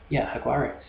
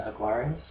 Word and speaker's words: Jaguares: So just having a quick look at Argentina, the Argentinian team, the Jaguares. You say it with an H if you're getting more Spanish on it, spelled with a J.